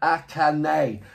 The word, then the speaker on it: Akane: Jaycon, he goes, Akane. Thank you very much. That's how Akane is pronounced.